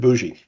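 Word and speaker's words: Bogy: full professor named David Bougie. Uh it's spelled B O G Y pronounced bougie.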